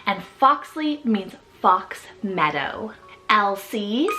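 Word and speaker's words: Elcie: for a girl and foxley means Fox Meadow LC spelled e-l-c-i-e or e-l-s-i-e-l-c this one's actually a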